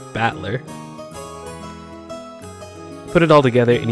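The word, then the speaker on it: Battler: The problem is my given name is made up of the characters for fight and person and it's pronounced batler.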